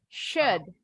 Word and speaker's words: should: Ini bunyi SY. Kalau bahasa Indonesianya. Jadi bacanya should. Should. Miss kasih lihat bunyinya monyong ya bunyi SY-nya. Should. Nah, tapi kalau dalam kalimat bunyinya bukan U lagi tapi E.